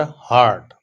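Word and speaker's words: heart: Number 13 है he cried as इफ he were हर्ट। हर्ट, लफ्ज हर्ट होता है और वो जो दिल होता है उसको हार्ट कहते हैं, करेक्ट प्रोनाउंसिएशन इसकी ये है।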